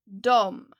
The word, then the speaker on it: de: Jag, du, han, hon, den, det, vi. ni de you can see here that they are spelled d e d however you usually pronounce it like dom so pay special attention